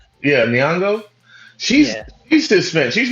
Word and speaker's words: Nyong'o: Lapita Lupita, Nango, I think. oh, Nyong'o. Yeah, Nyong'o.